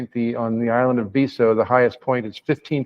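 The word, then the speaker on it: Betio: In the language of Kiribati, the country of Kiribati, it's spelled B-E-T-I-O, but the T-I diphthong in Kiribati, in I-Kiribati, which is the language, is pronounced as an S.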